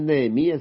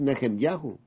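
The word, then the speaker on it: נחמיה: es Zacarías es zahu no es nehemías es neem yahu no es Elías es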